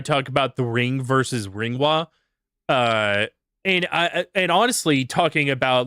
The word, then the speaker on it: Ringu: But and for those that don't understand why I'm calling it Ringwa, it's not called Ringu, despite what the fucking idiots on YouTube will say. It's pronounced Ringwa.